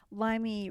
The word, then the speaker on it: Limey: evil elves right gnomes limey rhymes with slimy it said the only